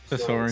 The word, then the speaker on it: Sasori: So tease Rocket Toys Sasori. I think that's how you say his name, right? I can't remember. Correct. Sasori or Sasori? Yeah. Sasori.